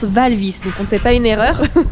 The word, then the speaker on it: Walvis: lagoon suite aval fils b alors on dit val vi parce que on a toujours prôné c'est walvis mais ça se prononce val vi ne comptait pas une erreur et la mer